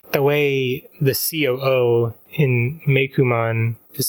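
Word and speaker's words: Meicoomon: So I was always like, is it in Japanese Meikomon? No, they're saying Meikumon, but it's officially romanized as Meikom.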